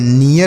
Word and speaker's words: near: NEAR तो एन से न और ई ए के साथ आर है तो ई ए का उच्चारण ई होगा, आर से र, यह नियर हो गया।